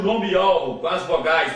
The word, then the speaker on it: Yahweh: O W aqui você lê como sendo U, e aqui aparece a última letra do nome do Pai. Portanto, o nome do Pai é Yahweh.